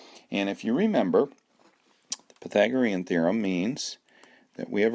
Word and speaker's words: Pythagorean: wasn't a math teacher didn't know how to pronounce Pythagorean so anyway that's how you pronounce it and if you remember the Pythagorean theorem means that we have a right triangle